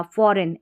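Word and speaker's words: foreign: फॉरेन एफ ओ आर ई आई एफ ओ आर फॉर ई ई आई ई और जी एन को न पढ़ा फॉरेन ऐसे याद रखनी है फॉरेन विदेशी ठीक है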